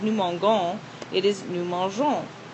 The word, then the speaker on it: mangeons: For example, instead of nous mangons, it is nous mangeons. Without the E, the sound is a hard G like G in gold, rather than the soft G like the G in Georgia.